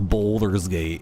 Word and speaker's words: Baldur's Gate: Pronounced boulders gate.